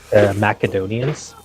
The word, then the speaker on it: Macedonia: it's I mean it's Macadamia I think it goes either way, but in the ancient Greek, the C is pronounced with a hard sound.